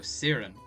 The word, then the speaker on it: Ciarren: oh i just say i see right oh siren very well serum very well let's see here